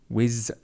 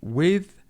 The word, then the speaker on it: with: Kevin, again, pronunciation of the sound whiz, and it should be with.